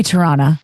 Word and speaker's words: Toronto: How do you say Toronto? Toronto. Yeah, that's like how tomato. Americans say it. My Uber driver was like, you say Toronto like an actual Canadian.